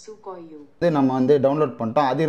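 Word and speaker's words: Sequoia: பண்ணிட்டோம் அதோட ப்ரொனௌன்சியேஷன் இதான் according to reddit i have often heard it pronounced sukay u நம்ம வந்து டவுன்லோட் பண்ணிட்டோம்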